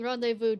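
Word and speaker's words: rendezvous: I love how saying rendevu does not look how it's spelled.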